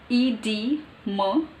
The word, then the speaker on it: edema: That short sound. Long short sound. Edema. Edema. It is British. And edema. Edema. It's not ma. Edema. Edema. Edema. That's how it is pronounced. I used to pronounce it as edema. Edema. It's edema. Edema. Edema. British, according to British.